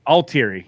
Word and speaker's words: Altieri: but uh so but anyway and the correct pronunciation is all altery all teary yep all teary all right cool thank you